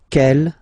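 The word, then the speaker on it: quelle: same way and then the feminine form is written like that q l l but it's pronounced like the masculine form k at the masculine Kell at the feminine okay so it's basically same pronunciation okay and then here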